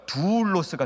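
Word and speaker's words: δοῦλος: 좀 길게 발음합니다. 두울로스가 종이에요. 이거 좋은 겁니다. 두울로스 종, 예수님의 종 할 때 두울로스예요. 근데 이거는 돌로스입니다.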